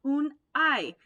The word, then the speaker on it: Unhei: No, it's spelled Unhei. It's pronounced un-I.